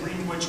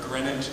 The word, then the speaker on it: Greenwich: yeah I always say I always say green witch Greenwich because I say both I always go back to a Dr C story where grenage has to rhyme with spinach one last Point let